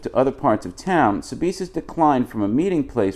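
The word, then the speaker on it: Sbisa: The Sabisa, which is spelled S-B-I-S-A, the Sabisa family took over the Chandler store and made it into a restaurant.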